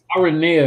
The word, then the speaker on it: Aranea: Yeah, Aranea, that's how you say her name.